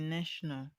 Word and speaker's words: national: We have option A, interpret, B, distinctive, C, filtration, and D, national. The correct answer to this question is option D, national. National has a stress on the first level.